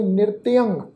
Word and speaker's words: नृत्यं: नृत्यं क्रोत, जथा मरकटै, नृत्यं तत्ते दे पैर विच अद्धा जइया लगा, इसका उच्चारण करांगे नृत्यं क्रोध जथा मरकटै, अनिक शासन ताड़ंत जमदूतै।